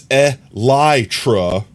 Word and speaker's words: elytra: It's elytra.